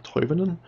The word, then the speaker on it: Toivonen: Timo Toivonen. Toivonen? That's how you pronounce it.